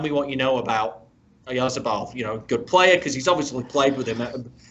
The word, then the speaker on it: Oyarzabal: Oyazabal, so it's Oyarzabal.